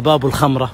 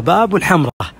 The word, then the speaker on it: باب الحمراء: إذا زرتم الحمراء حيشرحوا لكم المرشدين أنه هذا يسمى باب الخمرة، ولأنه يباع أمامه الخمور ومنزوعة الضرائب، ولا لا لا لا كلام فاضي، هذا يسمى باب الحمراء، ولكن تصحيفا ما ينطقون الحاء فنطقوا باب الخمرة، وهو ينفذ إلى قصور الحمراء بني نصر.